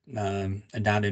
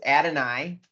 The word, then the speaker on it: Adonai: Adonai is his name.